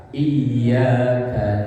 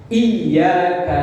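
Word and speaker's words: إياك: Itu kalau ya-nya pakai tasdid. Kalau ya-nya tasdidnya enggak ada, bacanya iyyaka na'budu wa iyyaka nasta'in datar tanpa ditekan.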